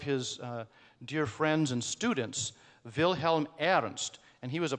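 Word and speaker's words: Wilhelm: acrostic so the first Vilhelm starts with a w and so does v although we say it like a V and German WI E and then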